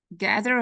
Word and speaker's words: gather: Gather has one stresses on the first syllable.